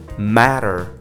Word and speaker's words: matter: Another word, matter. Okay, matter, it's gonna be like matter, matter. Practically speaking, if you break down the sounds and you get the syllables, you just say matter, matter.